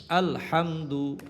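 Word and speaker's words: الحمد: আলহামদু আল হামদু হামজা লাম জবর আল হা মিম জবর হাম আলহাম দাল পেশ দু আলহামদু হা বর্ণটা চিকন উচ্চারিত হবে হাফ কঠ কন্ঠ মাঝখান থেকে উচ্চারিত হবে আলহামদু আলহামদু আলহামদু লিল্লাহি লিল্লাহ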